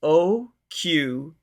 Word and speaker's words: Oquendo: It's Oquendo. Oquendo. That's right, because I want to go Oquendo.